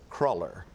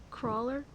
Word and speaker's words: cruller: Elise, your word for this round is going to be cruller. Crawler.